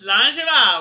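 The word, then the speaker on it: Slàinte mhath: No, it's Slanjava. We know it now. I don't throw the va in there. I just say Slanja. Slanjava.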